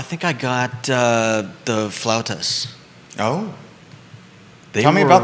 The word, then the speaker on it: flautas: get two flout and you're saying it right flautas flout i mean how else would you say that's f-l-a-u-t-a-s can you say it for everybody flautas oh that's very good clouds i like it